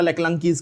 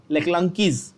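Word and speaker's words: Leclanché: बहुत सारे बच्चों को तो प्रोनाउंसिएशन ही नहीं आता लेक्लांकीज का, टेक्स्ट बुक में पढ़ते हो लेकिन बोलने नहीं आता। लेक्लांकीज सुना होगा?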